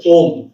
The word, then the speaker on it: ওম: কিন্তু সে উচ্চারণ করে যথা হচ্ছে আ উ আর ম এই সেই এই আ উ ম এই তিনটেকে নিয়েই কিন্তু শব্দ ব্যবহার করেই কিন্তু ওম উচ্চারণটা আসে আর এই ওম উচ্চারণ